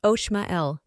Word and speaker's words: Omael: Name, Omael, pronounced Oshmael.